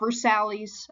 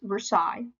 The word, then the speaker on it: Versailles: at Versailles okay now versales I know what it looks like but it's pronounced Versailles okay and at Versailles